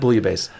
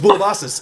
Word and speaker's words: Boulibasis: That's how you say her name. Oh, my God. Yes, it's not Bouillabaisse. No, it's Boulibasis, and she's lovely.